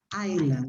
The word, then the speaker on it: island: pronunciation of this word this word is pronounced island without s okay because there is